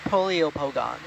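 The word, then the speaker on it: Poliopogon: I got corrected now on the pronunciation. Polyopogons.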